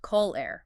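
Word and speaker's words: colère: French for anger is pronounced colair.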